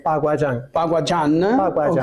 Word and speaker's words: Baguazhang: Allora, io inizierei spiegando un po' il tuo stile Baguazhang, lo pronuncio bene? Paguajan. Ok, Paguajan, scusami.